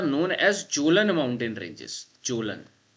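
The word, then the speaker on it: Kjølen: Jolan Jolan mountain ranges. Okay, K is silent.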